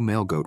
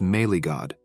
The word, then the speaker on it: Melee God: this player was and couldn't even pronounce the name, asking his employee who Mailgoat was. The man clarified that the pronunciation was Melee God, the perfectionist.